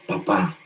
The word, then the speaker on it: papá: Y nos decía, si tú pones un acento en la última letra de la palabra papá, su significado cambia. Y ahora es papá.